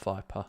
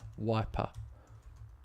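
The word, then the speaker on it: Weiper: Viper? Yeah. WEI. Oh, okay, yeah. Not Viper. Wiper. Viper. Nelson Viper. No. How do you spell it? W Yeah. E Okay. I Yeah. P Yeah. E R. Oh, yeah, got it. That's funny. Yeah, I would say wiper.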